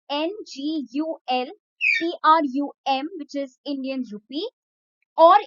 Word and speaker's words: ngultrum: I'll just spell it out for you guys. That will be better. It's NGULTRUM, which is Indian rupee or Indian rupee, and national sport is archery.